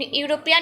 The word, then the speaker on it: European: Then my brother is studying in dash in European university. European, though is Havel, but I said earlier, no, as because of the pronunciation of u, the pronunciation of u is like you, and Y is consonant,